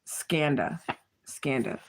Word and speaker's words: Skanda: Skanda.